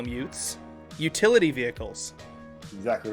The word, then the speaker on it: ute: but we call them utes. It's spelled UTE.